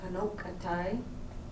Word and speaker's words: Konocti: Is Kanokatai, is that how you say it?